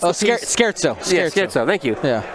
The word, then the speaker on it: scherzo: Yeah, Scherzo. Scherzo. It's Italian. You got to put a little oomph in it.